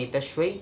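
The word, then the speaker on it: एतस्यै: तो ये हो गया हमारा तीसरा सवाल कि आप जो है देवी पूजन में एतश्वई कहेंगे और देव पूजन में एतश्मयी कहेंगे। वैदिक पूजा आदि में देवी हो या देवता उसमें एतश्मयी बोला जा सकता है, और एतश्वई भी अगर आप कहते तो वो भी सही होता है।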